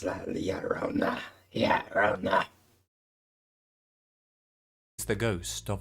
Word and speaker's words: La Llorona: Wait, the two L's does make a Y sound on it. I've been saying it wrong for years. I've been saying La Llorona. It's not La Llorona. It's La Llorona.